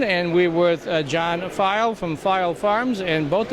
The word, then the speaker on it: Phyle: we might add that file is spelled PHY al because that might throw a few people off for sure all right who